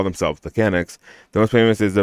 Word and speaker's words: Canuck: to call themselves the Canucks. The most famous is the Vancouver hockey team, but the rugby national team is also called the Canucks. Since sport is very much an activity. Canuck, not Kennick.